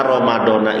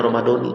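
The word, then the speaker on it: رمضانِ: Karena ramadona itu dia isim ghair munsarif yang harusnya berhenti di situ kalau mau ramadona. Tapi kan ada kalimat setelahnya, hadis sanati. Jadi dia difatkan ke kalimat itu, maka harus dibacanya ramadani.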